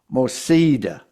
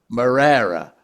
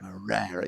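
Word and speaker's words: Moreira: between now pronouncing this gentleman's name is well pronouncing names is not my strong point anyway. Diego Mosida is it or Morera Morera. Yeah Morera.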